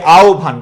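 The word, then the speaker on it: আহ্বান: হব আছে না? এর আগে অকার অথবা আকার আছে। অকার অথবা কিকার আছে? আকার। তহলে হটা কি হয়ে যাবে? ও হয়ে যাবে। আর বয়েজ কি থাকবে? ভ হবে। হ্যাঁ। আর হব এর পূর্বে যদি রসই অথবা দীর্ঘই থাকে তাহলে কি বলবা বলতো? হটা হবে কি? রস আর বস ভ হবে। বস কি হবে? ব হবে। তাহলে কি হবে? আওভান।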